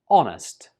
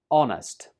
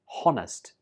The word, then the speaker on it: honest: but in this case, the silent letter is H. This word is pronounced honest. Honest. Don't pronounce the H when you say this word. So it's not honest. It's just honest.